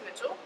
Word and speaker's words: Mitchell: It's spelled like Michelle, but it is Mitchell.